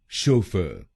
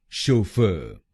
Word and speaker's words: Chauffeur: तो बनेगा शोफर, शोफर, शोफर, शोफर, शोफर, शोफर। और इस प्रोनाउंसिएशन में हम पहले शब्दांश पर यानी CHAU पर जोर डालेंगे। शोफर, शोफर। और दूसरा प्रोनाउंसिएशन है शोफर।